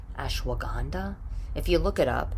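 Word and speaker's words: ashwagandha: I don't even know how to say it ashwaganda ashwaganda if you look it up it's like ash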